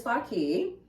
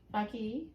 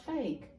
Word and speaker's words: Faki: All right, Fake, but it's not fake. It's Faki.